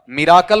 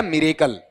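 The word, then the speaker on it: miracle: ऐसे कुछ उच्चारण होते हैं जो अपन गलत करते हैं। जैसे ये बोल के बताओ चमत्कार वाला, मिराकल होता है या मिरेकल। लेकिन आपको देखना पड़ेगा, यहां पर बहुत सारे लोगों को सुनता हूं माल प्रैक्टिस और मिराकल दोनों गलत हैं।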